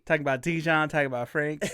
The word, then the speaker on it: Franxx: Franks that that's how I I read as franks. Okay. Yeah, I think that's how they say it in the the dub is they called them francs.